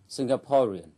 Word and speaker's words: Singaporean: tiết thứ nhất Singapore còn tính từ singaporean trọng âm rơi vào âm Tết thứ ba singaporean Xin mời các bạn